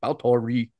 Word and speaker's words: Báthory: And there are people out there who'll be like, you're not pronouncing it right if you don't say Elspeth Báthory.